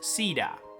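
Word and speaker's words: Caeda: With this new spelling, the H is ditched with the C AE being pronounced more like it is in Caesar, meaning it's CEDA.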